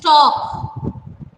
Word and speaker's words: talk: The correct pronunciation is talk. L is silent here, so you have to pronounce it as talk.